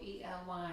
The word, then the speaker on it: Ely: E-L-Y, what's that called?